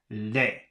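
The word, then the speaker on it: lait: have l-a-i-d and I guess that should be pronounced Le and then we have l-a-i-t and that should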